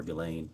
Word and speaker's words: Ghislaine: As best as we know, it's been publicly reported that in 2024, Ghislaine Maxwell or Ghislaine, I think it's how it's pronounced, arranged and wired $1